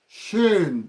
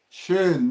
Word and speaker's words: schön: Then schön.